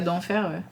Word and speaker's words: Denfert: C'est rigolo d'un EHPAD pour prêtres et religieux qui est à Vous d'enfer. savez, j'ai jamais fait le lien Oui. parce que ça s'écrit D-E-N-F-E-R-T, mais c'est vrai que c'est.